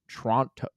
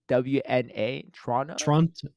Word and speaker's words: Toronto: Toronto it's not Toronto you actually want to pronounce it as few of the letters as possible more like Toronto like what wait okay okay Ace Trader Paul's spelled it t-r-a-w-n-a Toronto Toronto this well there's